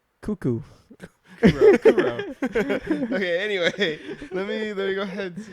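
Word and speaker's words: Kuroo: yeah Co it's like it's just a simple name right yeah two syllables C cuckoo Kuro okay anyway let me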